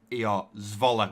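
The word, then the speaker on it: Zwolle: And supposedly, from what Lee said, it's pronounced, so Z-V-O-L-E-R, Zvola, which I hope that is correct.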